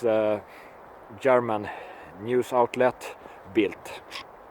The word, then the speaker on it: Bild: a german news outlet built without the t on the end it's belt build but pronounced built because it is it's german and they can't spit out the tone the d in the end so built